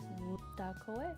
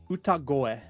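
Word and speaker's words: 歌声: Utakoe? Utako? Ooh. B- Uh, you add uta and koe together and you get utagoe. Utakoe.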